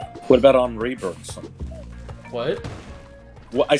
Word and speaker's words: Henri: Is that seriously how you pronounce the French version of Henry? Henri? Henri. What the fuck? E-N is pronounced en. French is a fucked up and twisted language.